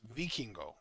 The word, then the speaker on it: Vikingo: I know that you like to get pronunciations right, and I just want to say this one time to make sure. It's Vikingo.